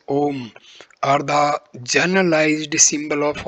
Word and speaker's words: Om: The three letters A, U, and M, pronounced in combination as Om, are the generalized symbol of all possible sounds.